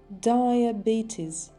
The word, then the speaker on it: diabetes: Diabetes. Diabetes. Сложное слово. Два ударения.